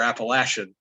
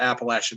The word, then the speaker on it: Appalachian: there's word right there appalachian that uh depends on where you are in this country the way people pronounce it if you live in the appalachian mountains you probably say